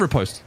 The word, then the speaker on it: riposte: How do you say the R-I-P-O-S-T-E sound? Or riposte. I call it riposte, yeah. But I've heard people say riposte as well. I think it actually is dialect dependent.